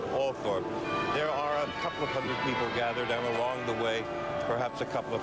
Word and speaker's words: Althorp: At the gates to Althorpe House, and here in this village, they do pronounce it Althorpe, there are a couple of hundred people gathered, and along the way, perhaps a couple of hundred more.